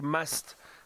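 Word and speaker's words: musth: So Kylie, the word must, and it's spelt M-U-S-T-H, is originally an Indian word, I believe.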